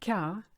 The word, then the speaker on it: quart: three now if you look at the word car it's actually colder but with the French phonetic being the way it is the qu is a car and you don't say the T silent silent letter la plaza iike and